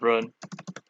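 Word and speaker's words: 人: Yeah, Jin is the Chinese pronunciation. Of what? The person. No, the Chinese pronunciation of person is Ren.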